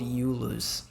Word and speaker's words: Julius: that have j names but they are pronounced as a y like there's a guy that is called you lose but it it it's written as Julius doing okay just